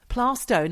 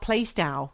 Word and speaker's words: Plaistow: Plaistow, not Plaistow.